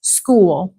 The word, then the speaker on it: school: 6, school. School. It's almost 2 syllables. School. School. School. Like the end of your name, Sanai. It's a little long.